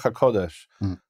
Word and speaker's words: HaKodesh: It's two different forms, Kadosh and Kodesh. There are places where this phrase is used in Hebrew Matthew, and it's spelled out with what we call a plene, that is the full form, where it's kuf vav dalad shin, and that tells you it's HaKodesh.